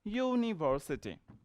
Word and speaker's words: university: So it's pronounced university.